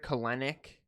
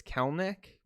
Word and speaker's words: Kelenic: will say i said jared kalenick instead of jared kellnick for a very long time a seattle mariners fan actually corrected me on it so i am like 95 sure it's kelnick even though it's spelled just like clinic i don't know i